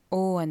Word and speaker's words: au: So first one verb aller plus AU வந்து இருக்கிற வந்து O தான் உச்சரிக்கணும் ஃப்ரெஞ்சில் O.